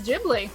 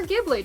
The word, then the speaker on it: Ghibli: your starting topic is ghibli or ghibli depending on how you want to pronounce it colleen how's the chat